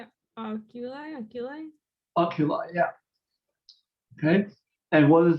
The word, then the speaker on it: oculi: Oculi, yeah.